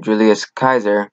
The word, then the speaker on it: Julius Caesar: But when in Rome, Julius Caesar, that's how you pronounce it, challenged the authority of his compatriot Pompey, and Pompey sought refuge in Egypt, Ptolemy XIII had him executed.